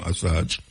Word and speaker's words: Assange: Julian Assange, I saw him pronounce his name, Assange. Yeah, Assange.